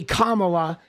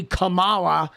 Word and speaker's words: Kamala: Even though we all know how to say Kamala and everybody knows how to pronounce that name, but she's going to say Camala, right?